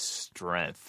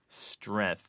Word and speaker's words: strength: GT H pronounced as strength oh it's nasty that's just nasty that's people do that all the time athlete or length strength there's a g in that word where'd the g go well listen to you